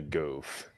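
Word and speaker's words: Gouf: like a again there it is the goof the goof yep it's called the goof they named a mech after goofy yeah so it's the goof troop goof troop on steroids but seriously though the goof is a beast of a mobile suit as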